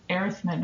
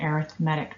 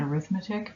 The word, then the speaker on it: arithmetic: So an arithmetic, notice I'm saying arithmetic, not arithmetic, because it's an adjective.